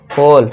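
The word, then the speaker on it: whole: होल।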